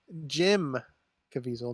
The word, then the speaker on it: Caviezel: What about a unknown movie by Jim Caviezel, not John Caviezel?